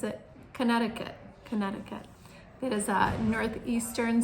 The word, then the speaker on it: Connecticut: Connecticut. Looks like Connect-i-cut, but we pronounce it Connecticut.